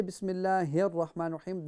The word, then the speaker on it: بسم الله الرحمن الرحيم: When we say Bismillahir Rahmanir Rahim, the ha is pronounced from the bottom of your throat, inshallah.